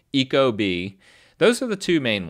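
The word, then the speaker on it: ecobee: kind of weird but it's like e Eco like eco-friendly and then B like the animal like the insect B Eco B those are the two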